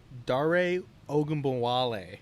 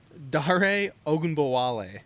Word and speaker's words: Dare Ogunbowale: Dare Ogunbowale.